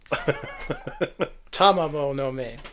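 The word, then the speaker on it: Tamamo-no-Mae: Because you know the story of Tomamo no Me. There, I pronounced it right. Yeah, every syllable. Tamamo no Me.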